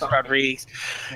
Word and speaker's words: Rodrigues: I need to correct your pronunciation on the island of Rodrigues. Oh, yeah, it's Rodriguez.